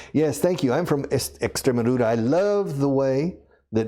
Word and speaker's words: Extremadura: En español se dice Extremadura. La X delante de un consonante se pronuncia como un S, según la Real Academia de la Lengua. Pero en inglés no. Los taxis de Extremadura son expensive.